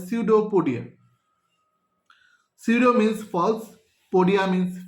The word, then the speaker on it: pseudopodia: এখানে পিটা সাইলেন্ট, এটাকে বলা হয় pseudopodia.